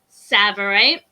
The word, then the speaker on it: Tsavorite: So the next is also a green garnet, and this one is called Tsavorite. So the T is silent.